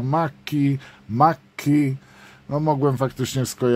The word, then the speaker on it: Macchi: quand j'ai osé dire machi ça se prononce maki maki non en fait